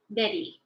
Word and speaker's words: Nnedi: Apparently, the actual pronunciation is too hard to say, but on her Twitter, she says Nnedi is okay.